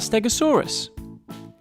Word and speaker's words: Stegosaurus: learn all about stegosaurus how do you say that again stare go saw russ can you say it with me stare go saw so what do we know about stegosaurus it was found in